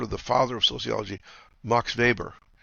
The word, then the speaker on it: Max Weber: the father of sociology MOX vber that's spelled ma ax we b r looks like Max Weber in German it's Marx vber he was a sociologist